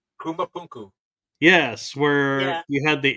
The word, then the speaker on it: Pumapunku: Rarely quote this show, but there is one spot they go to a lot that always amazes me, and I believe it's pronounced Pumapunku.